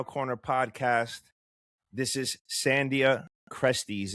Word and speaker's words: Cresties: This is Sandia Crusties. If I'm saying that wrong, I'm sorry, sir. Nope. You got it, man. That's it. All right. That's what's up, Sandia. So, cool. Yes, you said it right.